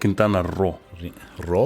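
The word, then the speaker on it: Quintana Roo: so I guess the I think it's called kintana ro ro I think that's how it's pronounced yeah Ro well that's at least that's the way I've always heard it pronounced you're probably right man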